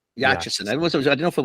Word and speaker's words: Yachison: My last name is Yachison. Yachison.